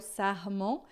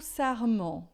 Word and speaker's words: sarment: Tout sarment, tá? Sarment, o R sempre som de dois R's e esse EN aqui sempre vai ser mais fechado do que em português.